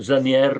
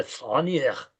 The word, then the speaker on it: Zanier: spiegazione forse storica sul perché viene pronunciato Zanier. Ai tempi della burocrazia austriaca i coloro che parlavano tedesco ed erano nei gangli fondamentali della dell'amministrazione tendevano a pronunciare Zanier. Sier e non Zanier come è naturale.